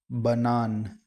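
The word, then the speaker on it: банан: The stress is on the second syllable. Banan.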